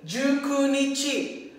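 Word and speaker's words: 十九日: So, gagamitin natin dito yung special reading ni 9, which is Ku.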